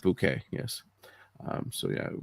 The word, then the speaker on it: Bucket: Hipatia Bucket is the character she played. Um, unfortunately she passed away. She passed away today at 19. Hey, sorry. It's pronounced bouquet.